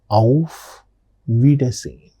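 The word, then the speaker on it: Auf Wiedersehen: The next particular greeting that we are going to learn today is of vidine of vidine. What is this of viden? It means goodbye of vidine pronunciation of vidin.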